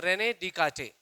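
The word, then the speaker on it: René Descartes: एक फ्रेंच mathematician है एज इट्स अ फ्रेंच name फ्रेंच word we pronounce it एज रेने डि काटे ठीक है तो इन्होंने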